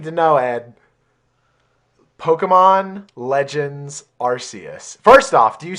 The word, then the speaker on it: Arceus: And then now I need to know, Ed, Pokemon Legends Arceus. First off, do you say Arceus, or how do you pronounce that?